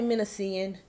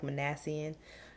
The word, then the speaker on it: Minassian: man named alex minassian now if i say menacing any at any point it's because that's what i kept calling him until i heard somebody say his name and it was alec monassian but you might hear me flip between menacing and menacing because yeah he was born on